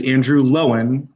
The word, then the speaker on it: Andrew Lowen: me today a special guest his name is andrew lowen uh that's how you pronounce last name right that is right that's